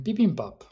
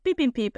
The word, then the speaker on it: bibimbap: will pronounce it bibimbap, not bibimbap as you did, Mark.